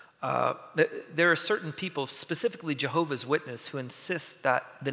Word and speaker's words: Jehovah: Now, FYI, a quick aside while I'm on the technical aspects of this, there are certain people, specifically Jehovah's Witness, who insist that the name must be pronounced Jehovah.